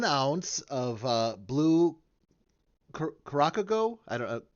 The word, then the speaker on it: Curaçao: It's the second C has like a little S like symbol coming down below.